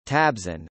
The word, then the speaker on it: Trabzon: Trabzon, Turkish pronunciation, Tabzon, originally the Greek city known as Trapezu in